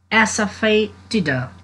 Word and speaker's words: asafetida: There is no difference, little only spelling is different. And so pronunciation of both word is asafetida.